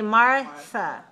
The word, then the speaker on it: Martha: again nothing nothing okay you know your name in in spanish you pronounce mata but in english we say martha right don't your american friends call you martha yeah okay yeah martha